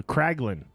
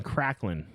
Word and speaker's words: Kraglin: It's spelled Kraglin. So Kraglin. But I feel like they're saying Cracklin.